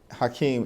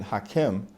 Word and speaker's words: Hakeem: Well, it's very interesting because Hakeem, H-A-K-E-E-M, is Arabic in nature. Some of my Jewish constituents will pronounce it Hakim because there's also a derivation in Hebrew as well.